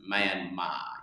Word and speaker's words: Myanmar: the language it's pronounced Myanmar. You don't say the R. The R signifies that you drag the A.